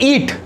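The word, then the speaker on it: eat: ईट में देखिए ई आ रहा है, ईट, लेकिन ईट तो नहीं है ना, ए तो नहीं आ रहा। ईट स्पेलिंग में तो ए है, लेकिन जब आप प्रोनाउंस करते हैं जब आपको ए का साउंड नहीं मिलेगा।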